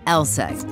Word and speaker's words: LSEG: Take ours, for instance, pronounced LSEG, aka London Stock Exchange Group.